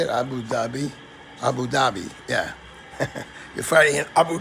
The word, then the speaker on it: Abu Dhabi: Abu Dhabi, yeah.